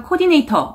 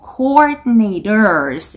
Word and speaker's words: coordinators: coordinators라는 단어가 나왔는데 R이 두 개 보이시죠? 이 발음을 두 번 정확하게 해주셔야 됩니다. 그래서 coordinator 아니고 coordinators 이렇게 coordinators R 발음 두 개.